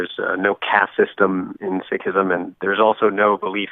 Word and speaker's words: Sikhism: How do you say it? Yes, it's actually Sikhism.